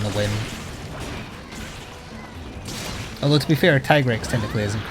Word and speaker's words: Tigrex: the English like the Canon English name for tigrex is tigrex tigrex it is tigrex yes I have the localization